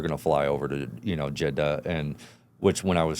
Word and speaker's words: Jeddah: And everybody was like, no, it's Jeddah. Oh yeah. It's like Jeddah. Jeddah. Something like this. Yeah. Everybody was saying I was saying it wrong, and so I'm trying